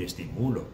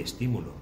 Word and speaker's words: estímulo: Yo no puedo decir pájaro. No puedo decir estimulo, tengo que decir pájaro y estímulo. Primero busco la sílaba tónica y luego le pongo el acento en su sílaba tónica.